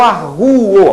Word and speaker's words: arguo: Então aqui o U é tônico, sim. Eu arguo. A pronúncia é essa.